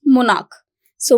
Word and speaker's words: monarchs: But monarch and monarchs. So monarch, k and monarchs, k or k. This sound will not change.